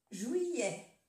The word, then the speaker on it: juillet: La terminaison de E-T, ça se prononce E. Juillet, oui, et juillet, julio. Y la dos L's se pronuncia como Y, como la Y de yo.